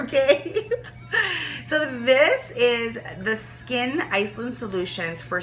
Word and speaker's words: Skyn: um skye n and i had to like google how to say this sky and skip skin and it's my skin i don't think siri knew what they were talking about it's skin s-k-y-n from iceland i